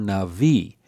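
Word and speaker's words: נביא: In davar navi, this word, the first word, loses its accent, and the only word that has an accent is the final word, navi. So it's davar navi.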